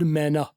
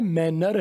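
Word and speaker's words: manner: मैना पुराने तरीके से मैना आपने सुना है मैनर है आप मैनर बोलते हैं पढ़ते आप मैनर है ना क्योंकि आपने स्पेलिंग के साथ पढ़ा हुआ है लेकिन गोरे आर को नहीं बोलते लेट्स सेटल दिस वर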